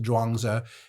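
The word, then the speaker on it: Zhuangzi: It's pronounced Dwangza and it means master Dwang or Sir Dwang.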